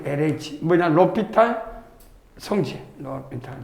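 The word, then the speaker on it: L'Hôpital: 로피타 뭐 묵음이야. 그래서 무금에서 그냥 LH LH라고 해. LH 뭐냐? 로피탈 성지 로피탈 좀 있다 쓰겠지만요.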